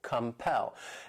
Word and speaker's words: compel: The next verb is compel. This word has two syllables and the stress is on that second syllable, compel.